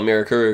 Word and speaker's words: Mirakuru: these white people say Mirakuru. My favorite thing. Yeah, that's really cool. I'm gonna continue to call it Mirakuru because that's how they pronounce it in the show.